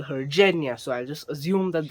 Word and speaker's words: Genya: character i would like to introduce is jenya g-e-n-y-a now how i read it in the book was genya with a g but in the series they call her jenya so i'll just assume that that is the